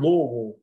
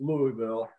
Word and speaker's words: Louisville: southern accents in the the word louisville is one syllable when you're south of the base of dixon land it isn't louisville it's a little all you gotta get your mouth full and say it all at one time all right if we